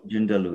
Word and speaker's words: Joondalup: I probably won't be able to pronounce it. I think it was Joondalup. quite close to the city. Jundalu, yeah, there is one.